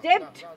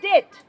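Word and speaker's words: debt: আবার এখানে অন্যরকম কেস লাস্টে টি থাকলে টি এর আগে যদি বি থাকে তাহলে সেটা সাইলেন্ট হয় যেমন ডেপ্ট বলবো না আমরা বলবো ডেট ঠিক আছে মানে ধাপ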